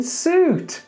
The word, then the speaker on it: soot: Okay, now I want you to think about this word in the same way as you think about foot. So we've got that double O, but we don't say foot. Same with look. We've got a double O, but we don't go look.